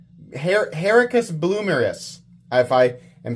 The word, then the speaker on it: Herucus Blomerus: Oh, he says the pronunciation for Hericus it's Hericus Bloomeris. Hericus Bloomeris, if I am saying that correctly.